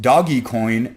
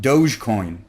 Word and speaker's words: Dogecoin: I have recently found out that it is pronounced doggy coin and not Dogecoin some burners might say that the festival is